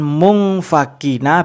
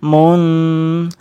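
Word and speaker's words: مُنفَكِّينَ: Kemudian yang ini munfakina, bukan mungfakina, bukan munfakina, tapi munfakina. Ada samarnya, ada dengungnya.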